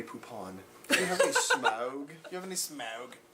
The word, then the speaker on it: Smaug: pronounced Smaug. It makes you like Grey Poupon. Do you have any Smaug?